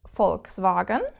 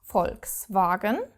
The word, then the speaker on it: Volkswagen: know the car brand Volkswagen Volkswagen you probably will have pronounced it wrong all your life but you have to pronounce this V like an f and actually quite